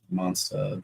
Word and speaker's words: Monstah: am headed out to Monsta Expo Monsta the New England pronunciation the Boston pronunciation and uh I'll be